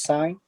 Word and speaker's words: sine: right here so this sign right here it is represented in shortcut sin don't read it as sin this is called sign similar pronunciation with this one